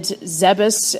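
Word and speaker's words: Zebes: sent samis over to Planet zebus apparently is what it's uh officially pronounced not zebbs as I thought at first and she goes over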